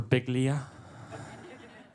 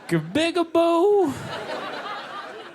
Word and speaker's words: Biglia: name right it's for biglia everyone gets it wrong when telemarketers call they'll be like good afternoon Mass speak with mister oh man bigab boo so I just have